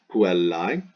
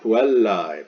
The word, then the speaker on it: puellae: Then the AE pronounced I. This is very important. So this is the genitive singular ending, goes in the genitive singular blank, puellae.